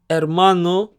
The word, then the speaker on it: hermano: Play In the Park hermano means brother remember that the H is silent hermana means sister means